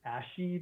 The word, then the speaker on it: ASCII: Yeah, it's a roguelike, and so in the purest sense, so it is, I think you pronounce it Asci, but ASCII characters.